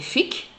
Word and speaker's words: figues: So, we ‘ll say”dès fikes” even if it is written “dès figues”, “salate”, even if it is written “dèl salade”; it makes him “malate” even if it is written “malade”, and so on.